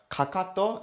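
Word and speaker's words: かかと: for your reference uh kakato is how we write how we pronounce or how we say heels in japanese which is this one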